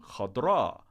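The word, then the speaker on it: خضراء: a completely different form hot bra with the accent on the second syllable instead of the first and this funny a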